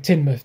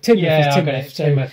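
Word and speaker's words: Teignmouth: Oh, Tain Grace. Tain Grace. Yeah. Tain Grace. As in Tinmouth. It's called Tinmouth.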